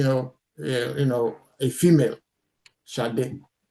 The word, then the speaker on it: Shade: Shade. Shade. That's the way it's pronounced.